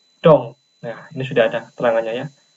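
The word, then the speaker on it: 동: Maka D, O dan eng di sini dibacanya adalah dong.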